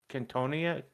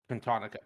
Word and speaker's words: Cantonica: Cantonia. Yeah, I can't pronounce the last one. I have to look at the spelling, but yeah, Cantonica. Cantonica. Blanking on that. Yeah. Cantonica.